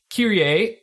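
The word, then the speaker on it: Kirie: Kyrie, did I say it right?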